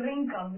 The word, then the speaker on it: wrinkle: And this is wrinkle. You will not read this.